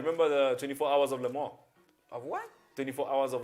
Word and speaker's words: Le Mans: So Stanley Moss was Le Mans, as in Lemont. Okay, no, not like that, Le Mans.